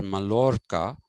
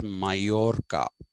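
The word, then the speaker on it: Mallorca: n e but uh in French and in Spanish uh LL is pronounced as y it's not pronounced as La okay a place like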